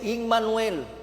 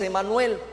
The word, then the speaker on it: Emanuel: Salvador lo hará Emanuel en el hebreo Este término es immanuel como lo escucha Y en la pronunciación que tenemos al día de hoy es Emanuel que significa Dios con